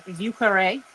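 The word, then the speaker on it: Vieux Carré: Um, the French term for French Quarter is ukare. That is how that is pronounced.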